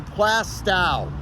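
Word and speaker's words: Plaistow: the correct way to say this is not plasto who would say plasto no one wants the plast a toe anyone want a plast a toe no my toes are fine plastow that's the correct way to say it here in New Hampshire here's another very famous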